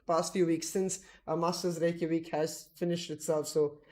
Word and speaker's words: Reykjavik: Over here, I've got the Masters Reykjavik.